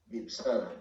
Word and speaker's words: Vipassana: Vipassana, yeah, and he can have understanding and truth too.